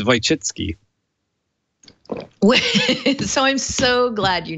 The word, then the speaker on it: Wojcicki: Whoa, Jicky? You know, it so happens, Denise, I know how to say it. How to say it? It's Wojcicki.